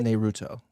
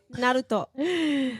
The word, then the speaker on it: Naruto: Naruto. It's actually pronounced Naruto. Naruto.